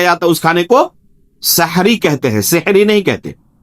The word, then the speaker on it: سحری: سحری. بعض لوگ اسے سحری کہتے ہیں، وہ غلط لفظ تلفظ ہے.